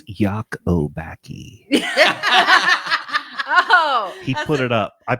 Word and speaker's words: Lacobacci: It's Yakobaki. Oh, He put it up. I put it phonetically up on the screen.